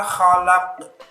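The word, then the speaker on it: خَلَقَ: Min syari ma khalaq. Nah, kha-nya juga harus ini di sini kotor, kha. Bedanya dengan ha itu, kalau ha itu bersih, ha, kha. Nah, begitu.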